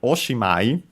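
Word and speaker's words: おしまい: While oshimai, with the addition of this honorific prefix, actually ends up, funny enough, pun intended, considering the meaning of the verb, having the accent on the C.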